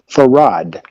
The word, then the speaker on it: Farad: Everyone who says that they had heard him use his name say that he pronounced his name Farad.